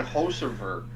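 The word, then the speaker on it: Hocevar: I think they're saying Hosever. Hosever? Let's say Hosever.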